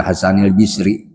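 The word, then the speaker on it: Hasan al-Basri: Anil Hasanil Basri. Ada yang membacanya anil Hasanil Bisri.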